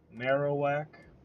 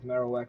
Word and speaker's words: Marowak: Marowak, I think, will be the way to properly pronounce it. Marowak.